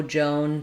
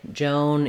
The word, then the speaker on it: Joan: So you could say, no Joan today. Joan is coding, some other word with an O sound.